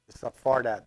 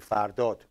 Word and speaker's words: Fardot: I pronounce it badly, because it's not Fardat that I, it's actually Fardot.